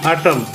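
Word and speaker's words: autumn: के नहीं पढ़ा जाता ए यू टी यू एम एन एटम तो एन इसमें साइलेंट है प्यारे बच्चों को समझ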